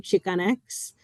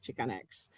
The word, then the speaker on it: Chicanx: It's called, the first one's pronounced chi, the second one's pronounced X, which is in reference to the term Chicanx.